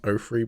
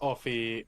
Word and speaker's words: Offee: so baris offi was a character isn't she pronounced ofree by the way no no it isn't it's